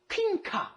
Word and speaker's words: 퀸카: In the woman's case, it's the 퀸카. Okay, it's not queen card, but we don't pronounce it like that, right?